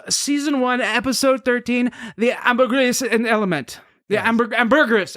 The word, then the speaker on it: ambergris: like i was so desperate to get this pronunciation right well she said ambergris yeah anyway so that's what it is and